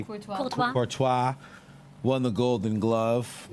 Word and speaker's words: Courtois: Golden Glove, Courtois, I think.